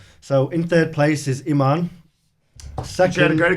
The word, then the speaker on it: Iman: Iman.